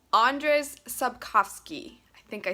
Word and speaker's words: Andrzej Sapkowski: by, hold on, somebody told me how to pronounce it once. I'm gonna try really hard to get it right. Andrzej Sapkowski.